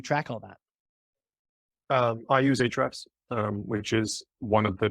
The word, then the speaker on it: Ahrefs: I use Ahrefs, which is one of the top 3 kind of SEO analysis tools. Ahrefs, it's spelled Ahrefs. Oh, like the links, like the link tag in HTML.